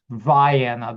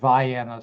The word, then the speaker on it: Vienna: It was Well, it was it's spelled like Vienna, but it actually is Vana. They they say it Vanna, so it's in southern Illinois.